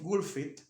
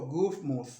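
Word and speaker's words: Gutsmuth: También está el caso de Adolf Gulfit, que pidió, Gufmuth, esa es la pronunciación del apellido, pidió que se hiciera una especie del sistema que se utiliza con las iglesias, de las campanas.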